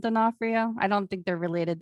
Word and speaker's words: D'Onofrio: name that's my stepdad it's dinofrio like the actor vincent d'onofrio i don't think they're